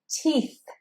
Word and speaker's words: teeth: This is, of course, teeth. Teeth. And this, again, is where you don't want to miss that sound from the end. And saying it with the t and the long E can be hard.